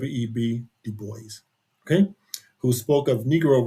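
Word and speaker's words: Du Bois: Well, it's debatable on how you pronounce it. Some people say Dubo. I was always taught Web Dubo.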